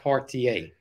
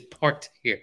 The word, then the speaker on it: parterre: And I almost positive it's parterre.